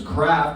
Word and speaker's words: Kraft: I told them it's craft they're like how do you spell that it's craft with a K people here so nice like oh craft like craft dinner I'm like yep it's